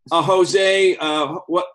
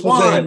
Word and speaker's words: Juan: And we recognize Jose. What's his name? Is it Jose? No, it's Juan.